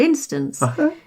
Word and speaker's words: instance: Yes, like for instance, the word instance. If you listen to the way I said it, you can hear me putting the emphasis on the I in the first syllable.